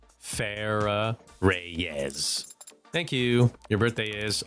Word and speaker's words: Farah Reyes: And how is that pronounced? Like how I just said it. Farah Reyes.